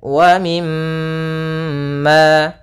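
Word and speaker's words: وَمِمَّا: Kemudian wa mimma. Di sini ada mim berharakat tasydid, maka hukum tajwidnya kita namakan dengan gunnah. Cara membacanya yaitu suara mimnya ditahan dulu. Wa mim sepanjang 2 harakat.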